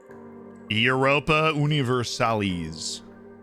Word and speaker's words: Europa Universalis: You got to pronounce it that way just to be incredibly annoying. Europa Universalis.